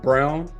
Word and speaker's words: Braun: in the playoffs, but Braun, I don't know if is it Braun or Brown? They say Brown, but it looks like Braun. Yeah, I think it's pronounced Brown, but it looks like Braun.